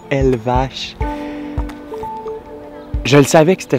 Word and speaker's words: Elvas: Comment ça s'écrit Elva, mais prononciation Elvache.